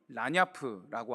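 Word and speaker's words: lagniappe: 바로 레니에프라는 단어인데요, 한국식 발음으로는 라냐프라고 합니다.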